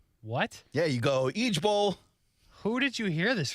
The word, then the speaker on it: IJBOL: But you pronounce it Eej Bowl. What? Yeah, you go Eej Bowl.